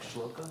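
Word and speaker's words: śloka: Shloka, is that spelled right? Like shloka? It's not spelled right, but it's a Tibetan pronunciation. It should be shloka.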